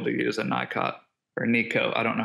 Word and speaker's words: Nicot: He was able to use a NICOT or NECO. I don't know how to pronounce it. So yeah, what it is NECO. NECO. Silent T. N-I-C-O-T for those that are looking it up.